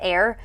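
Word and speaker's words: Aire: And she went from Wolf to, I think her baby's name is pronounced Air. It's not spelled that way, but it's pronounced that way.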